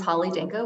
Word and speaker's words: Holly Danko: the ice sure thanks Shannon my name is Holly Danko which you pronounced correctly my pronouns are she her and